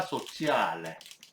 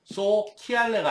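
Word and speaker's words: sociale: 깐티나 코오페라티브 이거에 까브 코오페라티브 불어에 해당하는 단어는 깐티나 소치알레 보세요. CI 사회적인 농장 협동농장을 의미합니다. 키알레가 아니죠. C 다음에 E나 I가 오면 치 발음이 난다고 했습니다. 소치알레 그죠?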